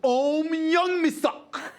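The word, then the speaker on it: Ohm Youngmisuk: me for interjecting but you mispronounced the name of a colleague of mine his name his name is Oh young me sock oh my young me sock that's his name that's how it's pronounced I just thought I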